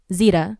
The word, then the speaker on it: Zeta: we started this podcast, you asked me how to pronounce my name, Zeta. So, when I was making my art Instagram, I did zetas.art, cuz, you know, z does.art.